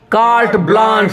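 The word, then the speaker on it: carte blanche: कार्ट ब्लांच, देखिए के नीचे लकीर है, इसका मतलब के पे सॉफ्ट आवाज रहेगा, और ए के आगे 2 बिंदी है, इसका मतलब आ पढ़ेंगे तो हो गया कार्ट, और बी के ऊपर लकीर है, इसका मतलब बी पे जोर देना होगा। ए के आगे 2 बिंदी है, इसका मतलब ए आ हो जाता है, और बड़ा सा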